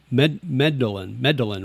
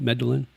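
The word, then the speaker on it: Medellín: Scars, Medellin, right? Is that how you pronounce it? Medellin? Yeah.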